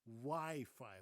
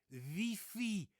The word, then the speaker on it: wifi: And then there's a the the strange pronunciation of the word wifi. We say wifi, of course, right? But the Dutch say vi vi.